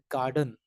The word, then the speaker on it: garden: to the word stress take the word Garden for example it has two syllables gar done the stress is placed on GAR so we say garden garden right we don't